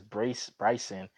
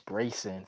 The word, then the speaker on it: Breyson: Cause I thought it says Bryson, but it's Brayson.